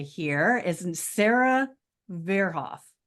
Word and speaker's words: Verhoff: So this lovely lady right here is Sarah Verhoff. Did I say it right? Pretty Close? close. Verhoff. It's good.